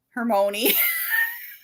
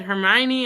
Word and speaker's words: Hermione: pronounce it wrong Heron Hermon Hermon is how I said it well Jim Dale said hermion and I was like that makes more sense all of a sudden